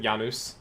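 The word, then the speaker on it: Janus: So that's why I I pronounce it Yanuz. Mhm. Yeah. Janice is definitely the ang um Anglicai version of it.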